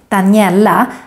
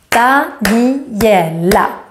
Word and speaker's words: Daniela: For example, my name, Daniela, has 4 syllables. Daniela.